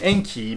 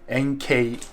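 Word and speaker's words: Enkei: and by the way I keep saying Enki but that's how I'm making is pronounced a it's actually NK and I should probably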